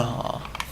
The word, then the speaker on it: gnaw: Gnaw. That sounds terrible. I hate the silent G's. They annoy me. I pronounce the silent G's explicitly. Pause.